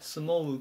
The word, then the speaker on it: smoke: 言います 880 番スモークスモーク発音に注意ですねスモークって伸ばさないでスモウクっていう風に発音します名刺だと煙